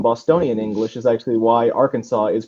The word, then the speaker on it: Arkansas: And the R is actually because when you pronounce it in a Bostonian accent, comes off R, and it gives a hard sound to it. So Arkansas is mispronounced on the front because of Bostonian English, and mispronounced on the back because people don't give a fuck about Native Americans.